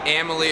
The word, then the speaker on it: Amalie: Amalie Arena.